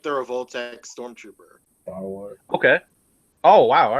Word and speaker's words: Revoltech: if emia was here emia would be like revoltech revoltech you know yeah because they're named after the revolver it's called rol know